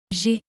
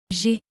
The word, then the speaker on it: J'ai: But since we have two vowels, the first one is eliminated and an apostrophe is added, and we say, J'ai. J'ai.